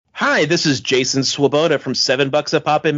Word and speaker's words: Swoboda: to do with fets and it's well it's pronounced swaboda but the uh um yeah I my online